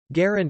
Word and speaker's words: Garand: pronunciation of the name garind is often disputed being pronounced variably as ur descendants of john garand and his close friend general julian hatcher generally agree that it is the latter rhyming approximately with aaron designer of firearms garen's